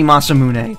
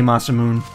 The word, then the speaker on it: Masamune: It's supposed to be Masamune. That's how it's pronounced. But he'll occasionally say Masamune. I think it's a mistake a lot of people make, though.